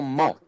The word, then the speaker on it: mot: the French c'est bon mot in O T they don't pronounce the T but the word in